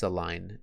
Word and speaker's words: align: Raise your hand if you think this align is spelled correctly. This one is also spelled correctly. So again, it's got that silent letter. We don't pronounce the G when we say it, but it is part of the way it's spelled.